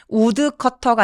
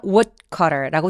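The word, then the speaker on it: woodcutter: a passing wood cutter 우 커터가 아니라 W cutter라고 디귿 받침으로 발음해 주시는 거 꼭 기억하시고요 but a passing W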